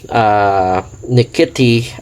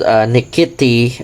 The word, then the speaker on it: Nkiti: So as what I'm told, Nkiti is spelled as Nkiti, or with the TH at the end, Nkiti, Nkiti, or Nkiti is an Igbo language which is belonging to Nigerian tribe.